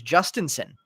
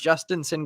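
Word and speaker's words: Jhostynxon: And the pronunciation now that we have him in Chrome is Justinson. So apparently the password's name is pronounced Justinson Garcia.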